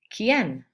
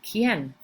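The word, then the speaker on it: quién: the letter k what kien think of a key a key that opens doors and the letter n that's how you pronounce it kien okay um you can't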